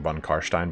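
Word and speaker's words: von Carstein: pronunciations ago it's like when people get mad at me for pronouncing von Kahr Stein Bond car Stein when that's how you pronounce it okay um so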